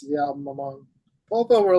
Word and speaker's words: Polvo: Polvo, yeah.